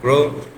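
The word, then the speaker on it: grew: কেমন down toward heading in my direction it গ্রো rapidly এটা খুব দ্রুত গতিতে কি হলো বড় হতে লাগলো এটা গ্রো গ্রো থেকে আসছে সো এটাকে আমরা গ্রোটাই বলবো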